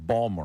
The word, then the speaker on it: Baltimore: It's like Baltimore. People that live there don't say that. What do they say? It's like Balmer or something.